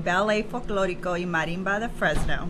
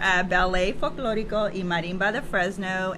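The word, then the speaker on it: Ballet Folklórico y Marimba de Fresno: Okay, so we are representing Ballet, Folklorico y Marimba de Fresno.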